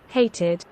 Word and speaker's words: hated: For example হেটেড, okay, hated, শুনতে পাও, ইডি, hated, জি।